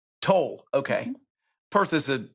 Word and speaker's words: Tolle: And Jess, what's the right pronunciation of her last name? Tolle. Tolle, okay.